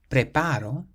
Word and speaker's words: preparo: Preparo means I prepare. So because this word ends in a vowel, we stress the syllable before last, which is the a in the middle, preparo.